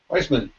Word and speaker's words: Weissman: Is it Weissman? Weissman.